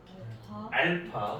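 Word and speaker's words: α: 다음은 2차 방정식의 두 근을 x는 요거 뭐라고 읽죠? 알파, 그죠? 요거는요? 베타. AB라고 읽으시면 안 됩니다. 네. 알파 베타예요.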